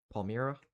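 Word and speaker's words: Palmyra: We have some strong winds over here by Palmira. Palmira is how you say it.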